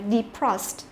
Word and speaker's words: defrost: là đờ e đấy, nhưng mà e này không đọc là y ngắn mà phải đọc là y dài đấy, cho nên chúng ta phải đọc là defrost.